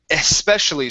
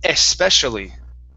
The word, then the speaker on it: especially: to the word here especially so here we want the e sound at the very beginning especially especially good good all